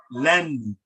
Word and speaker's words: lenni: You use the word la, which means don't, and ni, which means me, and you pronounce it lenni, lenni, lenni, and this means mine.